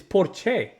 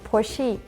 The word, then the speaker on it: Porsche: It's porche. That's how they say it. I mean, she'd be capping, I'm telling you. And I think it was an American girl and she was like, "No, it's porchi or like like pronouncing it."